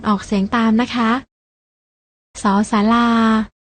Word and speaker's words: ศ ศาลา: ๆ ลอง อ่าน ออก เสียง ตาม นะ คะ ศ ศาลา ส ฤาษี ส เสือ และ ทั้ง หมด นี้